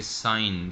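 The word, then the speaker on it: sign: GN या एन जी जैसा कि साइन साइन इक लफ्ज़ और है जो GN आ जाए या एनजीआर जाए आपने इसके अंदर से इनको जी को साइलेंट कर देना है apk फाइल आपने जी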